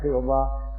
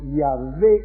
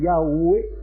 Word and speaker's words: Yahweh: Ya sabéis que lo más probable es que no sea Jehová, sino Yahvé, según los askenazis, y Yahweh, según los sefardíes.